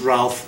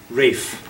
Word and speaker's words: Ralph: But in England English, we don't pronounce Ralph Ralph. We pronounce it Rafe.